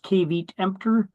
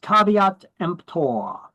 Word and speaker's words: caveat emptor: made Caveat Emptor oh boy that is not pronounced kavit EMP it's pronounced caveat empor in Latin it means let the buyer beware